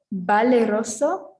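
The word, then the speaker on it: valeroso: and incident okay so the v is the same as a b so in spanish it would be be so we have baleroso and vega okay is that all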